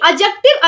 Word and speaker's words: adjective: ये जो डी डी को साइलेंट करना है।